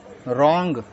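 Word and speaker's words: wrong: एन एस डब्लू ई our answer W तो silent है रंग डब्लू आर ओ एन जी रंग W silent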